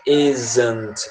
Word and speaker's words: isn't: is, mas esse not, a pronúncia fica isn't. É como se tivesse uma vogal aí no meio.